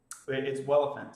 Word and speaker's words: Welephant: It's Welephant, spelled like elephant with a W.